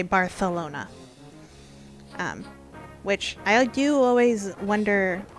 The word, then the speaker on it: Barcelona: a th so like a normal spanish speaker would say barcelona and if you're from spain you say barcelona which i do always